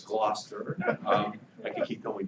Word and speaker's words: Gloucester: have to become bilingual all right it's not Gloucester it's Gloucester um I can keep going down most frequently